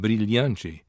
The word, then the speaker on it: brilhante: This occurs in Brazilian Portuguese whenever a word contains a DI, as in dia, or a TI, as in chia, which means ant. Palatalization also occurs in Brazilian Portuguese whenever a word contains a final unstressed DE, as in verdade, which means truth, or a final unstressed TE, as in brilhante, which means brilliant.